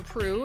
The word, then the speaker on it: Proulx: meantime friends check out dr andrew prue it's p-r-o-u-l-x is how you say his last name he's got a couple